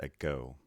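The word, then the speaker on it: ἐγώ: pronounced a followed by sigma ace preposition meaning into smooth breathing epsilon so we begin a with gamma and finally an omega with an acute accent this word is then pronounced at go and means i smooth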